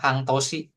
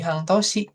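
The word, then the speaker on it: 半年: Setengah tahun mereka bilangnya hangtosi. Setengah tahun kanjinya sama. Kanji setengah sama nganji tahun. Jadi hangtosi.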